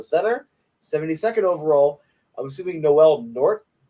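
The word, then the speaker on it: Noel Nordh: 72nd overall, I'm assuming Noel Nord. There's a weird H at the end there.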